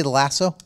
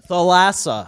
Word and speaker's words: Thalassa: Did you say the Lasso? Thalassa. Thalassa. That's how you pronounce the stadium.